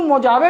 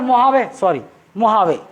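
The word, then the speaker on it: Mojave: देखो आपको एक चीज़ पूछ सकता है, ये जो मोजावे डेजर्ट है ना, मोहावे, कौन सी कंट्री में ये डेजर्ट लाई करता है, कैलिफोर्निया।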